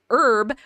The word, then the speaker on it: herb: dictates the indefinite article use a before words where you pronounce the other or the letter h such as a hat a house or a happy cat use and before any words you don't pronounce the letter h such as an herb or an hour or an honorable man so historical you definitely